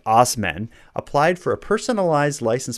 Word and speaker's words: Asman: might as well Dave asman is sticking it to the Man by sticking it to the back of his truck when asman pronounced osmen applied for a personalized